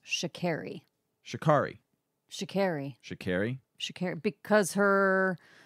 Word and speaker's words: Sha'Carri: and the article was American Sprinter can you pronounce her name for me one more time Shakari Shakari Richardson test positive for cannabis Olympic hopes and